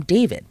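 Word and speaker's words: D4vd: singer David Anthony Burke, better known by his stage name David, but spelled with a 4.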